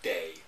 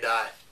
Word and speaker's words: Dai: I think it's pronounced Day. It's not either. It's pronounced Di.